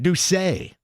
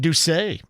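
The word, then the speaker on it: D'Ussé: Apparently, Bill says the cognac we're talking about, Ducay, is made by Jay-Z. Oh, really? It's pronounced dooay.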